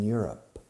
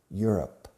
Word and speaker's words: Europe: France is in Europe. Europe, Europe, Europe. La pronunciación es como you are, you're, up. Europe. Acentuando la primera sílaba.